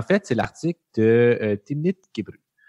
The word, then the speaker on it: Gebru: c'est l'article de Timnit gubru puis finalement gbru je pense c'est comme ça qu' faut le prononcer là je pense pas